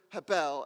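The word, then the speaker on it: הבל: Try to say the word hebel. And when you do, pay attention to what you feel on your mouth. So say the word hebel. Did you feel it? If you're saying it right, you should feel a quick burst of breath on both your lips.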